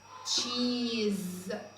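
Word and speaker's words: cheese: الاس هنا انطقها ز تشيز. تشيز. طيب مين بقى خد باله ان حرف الاي هنا في اخر الكلمه ما نطقناهوش؟ ده احنا قلنا تشيز ما قلتش اي تاني.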